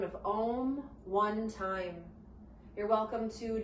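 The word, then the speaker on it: Aum: seal our practice will chant the sound of ohm one time you're welcome to just listen or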